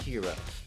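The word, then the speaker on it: Hiro: No, it's pronounced It's pronounced hero. Like hero.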